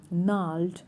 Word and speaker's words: gnarled: है क्या है, द gnarled stump। ये देखिए वर्ड, देखिए इसमें जी भी साइलेंट है और आर भी साइलेंट है, तो क्या हुआ ये वर्ड gnarled stump।